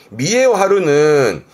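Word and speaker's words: 見栄を張る: 발음이 특이합니다. 이때는 미에입니다. 그래서 미에요 하루입니다. 미에요 하루는 영화롭게 보인다라는 건 남에게 보여지는 어떤 외관이나 겉보기를 말하는 단어인데, 그게 겉보기에서 거칠에까지 가요.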